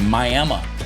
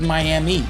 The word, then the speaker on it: Miami: the 29th we're in miam not to be confused with Miami even though it's spelled that way miam Oklahoma uh on